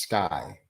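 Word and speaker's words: SCCY: cost wanted to see or SCC why it's pronounced sky sky nine-millimeter is also a very budget-friendly excellent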